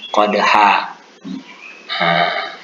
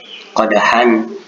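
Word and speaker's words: قدحا: Bukan dibaca sebagaimana tulisannya qadhan, karena kita berhenti di situ menjadilah dia qadha.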